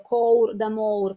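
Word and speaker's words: Cour d'amours: Cour d'amour, che si dovrebbe dire, credo, cour d'amour, perché è lingua d'oïl e non si pronuncia come il francese moderno, che porta l'elemento sensuale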